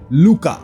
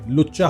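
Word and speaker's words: Lucca: तो हां यहां क्लाइंट से मिलने आता है लूका। अब इसके नाम का स्पेलिंग है एल यू डबल सी ए लुच्चा होता है। लेकिन चलो लूका ही बोलेंगे हम लोग।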